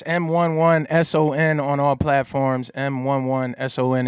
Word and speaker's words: M11SON: M11SON. It's just pronounced Mason, you know what I mean?